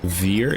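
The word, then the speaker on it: vier: For those of you who don't know, Veer is how you say 4 in my native language.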